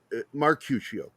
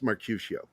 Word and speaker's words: Mercutio: oh it's yeah it's it's not mark fuccio it's markusio I played him like several times no his medication is is like in a sea we pronounce it in the play as Mercutio not murder I don't